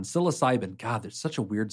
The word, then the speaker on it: psilocybin: So there's been a lot of talk lately about how do you use magic mushrooms, or I believe it's pronounced psilocybin? That one, psilocybin.